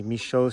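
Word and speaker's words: Michaux: this park is actually michoa state park it's spelled with an aux to keep the french pronunciation of the name but i thought that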